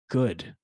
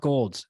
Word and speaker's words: Goud: can tune into Goud, right? Right. Yeah, not Gold. There's an L in there, but the L is silent.